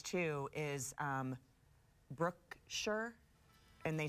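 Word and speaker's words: Brookshire: know what else said a lot of people mispronounce too is Brooke sure and they say brook shire horse move here Brooke sure pretty sure brook shire brook shire yeah but it's Brooke sure oh okay you want to play along yeah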